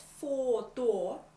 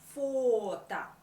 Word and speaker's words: фото: Not photo, but фото. Because o at the end of the word is not stressed. It is in the post-tonic position. Фото.